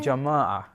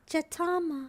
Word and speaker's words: jama'ah: Jama'ah. Jatama. No, jama'ah. Jama'ah. Yeah. Oh, is that good pronunciation? Yeah, well done, Penny.